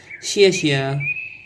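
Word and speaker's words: 谢谢: In Chinese, we say xie xie. It's like a pop star sneezing politely.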